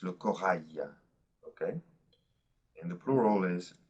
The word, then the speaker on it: corail: Now, when we say le corail, the IL ending is pronounced just like the Y of yes, okay? It's different from le cheval. It's le corail, okay?